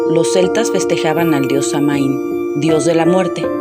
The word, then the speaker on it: Samhain: Por otro lado, los celtas festejaban al dios Samaín, dios de la muerte, que por cierto se pronuncia Samhain.